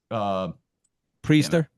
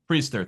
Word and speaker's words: Priester: It's Priester. Priester. Thank you. Trying to pronounce his name.